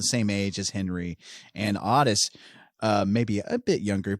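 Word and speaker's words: Ottis: we meet becky and am i calling him otis or odyss okay in the movie he's called otis in real life the real life character is odyss that's how you pronounce this so i should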